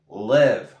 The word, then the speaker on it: live: Agudo, leave, leave, leave, leave. Muy bien. Live, live, live. Muy bien. Agudo y la I como la E, más grave.